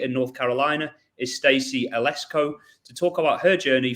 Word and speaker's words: Eleczko: way from rally in North Carolina is Stacy alesco to talk about her journey from educator to